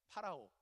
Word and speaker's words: 파라오: 파라오. 그죠? 원래 발음은 파라오인데 이거를 한문으로 음차를 하다 보니까 바로라고 읽게 됐는데, 이집트의 왕 파라오를 얘기합니다.